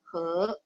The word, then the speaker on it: 河: Bukan, hanzinya beda. Cuma bacanya aja sama. He, sungai.